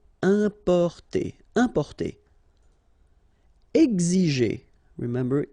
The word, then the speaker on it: importer: Importer, okay, I-M, then a consonant, so it's the nasal un, importer, importer.